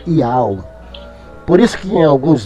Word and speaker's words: YHWH: O Re é mudo. É o YHWH, o H é mudo, então é pronunciado Iau.